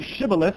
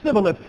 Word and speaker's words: shibboleth: They're trying to say shibboleth, but it's coming out sibboleth because they are who they are.